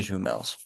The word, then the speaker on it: jumelles: J'ai des jumelles. So with the S on jumelle, we don't pronounce that.